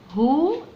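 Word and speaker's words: who: اي يعني من اكون هو ام اي انا طبعا متعوده عامه يعني ان انا اقرا كلمه طبعا هناهوت الدبليو لا تنطق سايلنت لا تنطق فبتنطق بتنطق الاتش ها وتدخل على الاو تبقى هو يبقى انت نطقت الاتش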